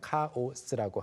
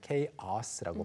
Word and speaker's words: chaos: 네, chaos도 발음이 우리가 그냥 chaos라고 하는 거랑은 다릅니다. chaos라고 발음해야 되겠고요.